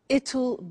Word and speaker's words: it'll: now will is easy really it's just the pronunciation which is difficult I said tomorrow it'll be cold you notice how it will becomes